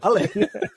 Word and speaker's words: Ale: And that's exactly how you say his name, Ale. I mean, I don't think you'd ever do a say my name for a guy who's got like 3 letters in his first name and then 3 letters in his surname, but there you go. Tom Ale. Not LA.